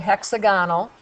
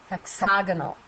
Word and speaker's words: hexagonal: We change the accent. Hexagonal prism. We don't say it hexagonal, we say hexagonal.